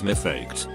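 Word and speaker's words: מפקד: Now what Americans call drill instructors or drill sergeants in Hebrew is mifaked, which is pronounced very similarly to my duckhead.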